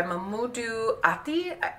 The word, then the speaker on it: Mamoudou Athie: So Uncorked is about a young man, Elijah, who is played by Mamoudou Athie, I believe is how you pronounce his name.